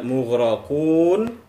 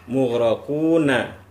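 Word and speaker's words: مغرقون: Jadi kita baca mughraqun, tidak kita baca mughraquna.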